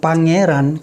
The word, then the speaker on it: pangeran: Bukan pangeran. Kalau pangeran itu anak raja manusia. Baik, Pak. Tulisannya PA, pangeran. Oke. Kalau yang artinya Allah Tuhan ini, pangeran, tulisnya PE, pangeran. Oke. Ya, bacanya pangeran. Pangeran.